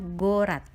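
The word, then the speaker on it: город: Sehingga untuk kata ini kita membacanya gorat, yang artinya kota.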